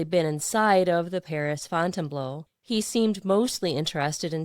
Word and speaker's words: Fontainebleau: Ben named it after the Fontainebleau Palace in Paris, though whenever Ben pronounced it, he always called it the Fontainebleau instead of the French pronunciation Fontainebleau.